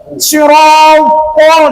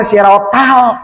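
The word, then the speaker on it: صراط: Sirotol, jangan sirotal.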